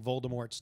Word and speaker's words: Voldemort: And by the way, we did forget to discuss about how we're pronouncing Voldemort's name wrong last week. Yeah. So yeah, we're J.K. Rowling said it's a silent T. Yep. So it's Voldemort, which is stupid.